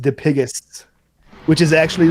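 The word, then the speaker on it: Dipygus: p y g u s but it is pronounced diigis which is actually like a deformity that you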